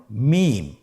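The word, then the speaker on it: ميم: মিম। হরফটির নাম কি? মিম। মিম হরফটি উচ্চারণের ক্ষেত্রে অবশ্যই বারিক হবে, পাতলা হবে এবং তিন আলিফ টেনে উচ্চারণ করতে হবে।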